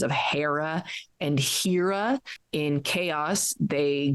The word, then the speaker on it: Hera: research I found that Hera is proper and it's the same root for the word hero which we still pronounce that way so that's an easy